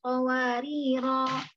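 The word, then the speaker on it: قَوَارِيرَا: Jadi qawariro yang pertama bulatannya besar atau agak lonjong seperti ini, berarti alifnya dipakai. Kapan dipakainya? Ketika waqaf. Jadi ketika Ibu baca wa yutafu alaihim bi aniyatin min fiddatin wa akwabin kanat qawarira. Gitu. Dipakai alifnya. Jadi panjang 2 harokat.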